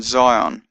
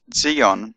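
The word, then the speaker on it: Zayin: Zion has a surf sound sir as in Zion although Zion is actually pronounced zeon and Hebrew but in any case of the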